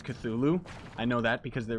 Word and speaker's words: Cthulhu: How do you, well, Cthulhu itself, Jan, that's how you pronounce Cthulhu.